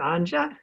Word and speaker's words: Anja: Thank you for having us on your show, Anja. Thanks, Anja. I think I've said your name wrong and you've said my name wrong now. It's pronounced Anja, so being from Germany, the J is pronounced differently.